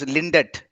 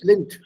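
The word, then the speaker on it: Lindt: are chocolates in wealthbackhand lint l-i-e-l-e-n-d-t yeah people mispronounced this lindat no it's not linda it's lin lint lind linked is a world famous chocolates yeah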